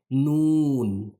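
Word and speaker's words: ن: अगला जो हर्फ़ है वो है नून।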